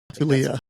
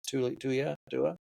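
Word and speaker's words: Taulia: Tulia. Pronounces Tulia. Yeah, Tulia.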